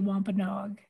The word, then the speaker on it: Wampanoag: does it mean to you to be a Wampanoag?